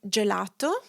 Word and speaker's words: gelato: So, if your G is placed before an I or an E, it's pronounced as the J in jam.